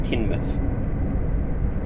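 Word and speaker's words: Teignmouth: It's pronounced Tinmouth.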